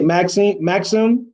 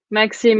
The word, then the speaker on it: Maxime: It's been kind of hard to find one of those, but you know, if how do you say Maxim? Maxime. Yeah, Yeah.